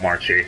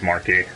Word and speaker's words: Marchi: It's not Marchi. It's Markey. Everyone else calls her Marchi, but yeah.